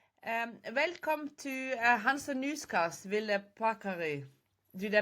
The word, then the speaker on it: Ville Paakkari: welcome to HANSA.newscast, Ville Paakkari. Did I pronounce it Thank correctly, by the you.